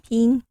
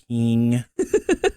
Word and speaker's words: Phing: Phing. Phing.